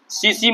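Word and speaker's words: tsetse: वो मक्खी का नाम है सीसी मक्खी। टी यहाँ पे साइलेंट है, ठीक ना? सीसी मक्खी।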